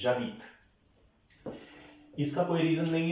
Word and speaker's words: j'habite: So this is नॉट ज Aadit, this is जावित।